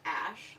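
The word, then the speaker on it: Æ: thing of two letters it's pronounced ash I found out and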